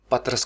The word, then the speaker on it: پطرس: कुछ असातिज़ा के नज़दीक इसको पितरस पढ़ा जाना चाहिए और ज़्यादातर की राय ये है कि इस लफ्ज़ को पतरस कहा जाए।